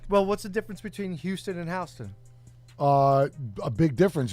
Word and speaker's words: Houston: Because he pronounced it Houston Street his whole adult life. No, and I then- didn't. And then somebody goes, "Hey, jerk off! It's Houston," and he got all but embarrassed.